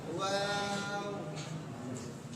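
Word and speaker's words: واو: হরফের নাম ওয়াও, হরফের উচ্চারণ নরম করে, ওয়াও, এরকম শক্ত না, ওয়াও।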